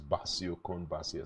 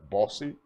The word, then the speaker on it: Bassey: when I go there I say my name is basio talk they're like bossy bossy they like that and